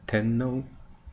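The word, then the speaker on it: 天皇: Tenno. Tenno is the emperor of Japan.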